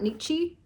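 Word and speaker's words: Nietzsche: So, we're talking a lot about Nichi. Is that how you pronounce his name?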